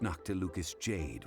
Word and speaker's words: Noctilucous Jade: The first step in our preparations shall be to obtain some prized Noctilucous jade worthy of a deity. Oh, so that's how you pronounce it.